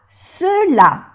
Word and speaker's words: ceux-là: Ces bijoux là, ceux-là. No se pronuncia la X, marca el plural también.